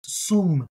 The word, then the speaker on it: שום: Today we're thinking about the Hebrew word that is spelled sin vav mem. Sin vav mem. Mem. So this is sum.